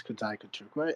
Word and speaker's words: Kudzai Kutukwa: Flo said in her introduction my name is Kad Kuka and you pronounced it correctly and um I'm a bitcoiner